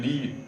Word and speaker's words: Lie: this is called the Lee bracket for reasons that go beyond the course but anyway again this this name Lee turns up right uh and don't pronounce it lying because it's not a lie it's it's true and